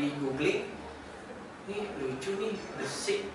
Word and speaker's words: Besixxs: kayak di googling, ini lucu nih, besik, B-E-S-I-K, satu, besik, besik, bacanya gimana guys? Besik, oh besik, bacanya, oh gitu.